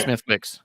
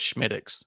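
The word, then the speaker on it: Smithwick's: I've not heard of it's spelled Smithwick and everyone thinks it's Smithwick and it's a Guinness product but it's really good but when you go to a bar and you're trying to impress the bartender you call it Schmid especially if it's an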